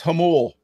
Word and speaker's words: Jamul: you're from Doug no it's pronounced Hummel with an H it's Spanish taste this Spanish word